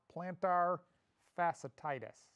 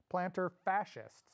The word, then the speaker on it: plantar fasciitis: I gotta read it, plantar fasciitis, or heel spur pain. Yeah, I mispronounced it. I always mispronounce it. I want to say fascist, plantar fascists, but it's not that.